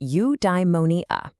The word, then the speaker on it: eudaimonia: Okay, I've got a new word for you, eudaimonia. It's pronounced you-die-mo-nee-ah.